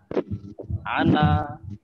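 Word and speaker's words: أنا: Di sini meskipun nanya panjang, tapi bacanya pendek ya.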